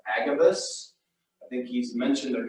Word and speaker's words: Agabus: I think his name is pronounced Agabus.